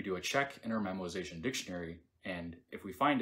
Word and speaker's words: memoization: same call again and no I didn't say it wrong it's memoization not memorization memorization will help us